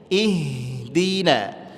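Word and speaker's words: اهدنا: Kebanyakan di sini kesalahannya adalah ihdi. Ihdi gak ihdi. Kemudian H memiliki sifat hames. Dia mesti ngalir dan enggak boleh habis suaranya. Jangan ihdi. Ihdi. Dak ngalir aja lembut. Ihdina.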